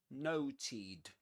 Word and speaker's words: noted: the T because the E is not pronounced actually in the infinitive. So we say note noted noted.